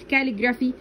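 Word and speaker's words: calligraphy: حرف السي ما بيتنطقش الا لو بعده ثلاث حروف اللي هما الاي والاي والاي والواي، تمام.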